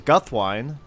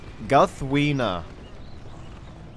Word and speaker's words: Guthwine: say this is because guthwine is actually Guth wiener guthwina and I'm sorry I'm sorry John Ronald rule Tolkien but yeah I I can't say guthwina actually I just can't